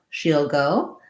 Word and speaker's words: she'll: Then when we contract she will, we get she'll go. Same kind of pronunciation as heel. We just change it to an SH sound, the sh sound. So she'll go. Again, kind of an E, you'll, she'll go.